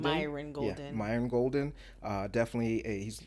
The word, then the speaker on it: Myron Golden: Myron Golden. Myron Golden.